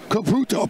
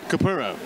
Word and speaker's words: Capurro: Capurro. Capurro, sorry. We owe him that. We spelled his name wrong on just about everything and got it right about, I think, yesterday. Andrew Capurro. Capurro. Double R, roll it.